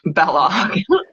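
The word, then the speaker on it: Balogh: Uh, Debbie said rhymes with Kellogg. So now we all know how to say Bellog.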